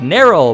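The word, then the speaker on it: Nerrel: was worth it like nero my favorite youtuber whose name rhymes with sterile and right he was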